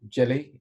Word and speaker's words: D'jelal: my name is jelly it's jalal but jelly is easiest pronounced for most people welcome to my talk